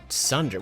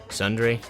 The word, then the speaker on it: Tsundere: Sundere? T is silent. Was I pronouncing the T? I probably was. I wasn't supposed to.